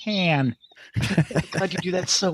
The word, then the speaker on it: Han: His name is Han, not Han. It's Han.